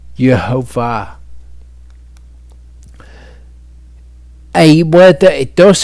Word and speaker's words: Yehovah: But regardless, the correct vowels, as far as we can determine, are Yehovah.